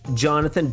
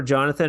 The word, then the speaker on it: Jonathan: We have Jonathan Dansby. Yeah? Jonathan Dansby? Dansby, yeah. Jonathan, more like a Z. Dansby. Yeah, so pronounce it more like a Z instead of S.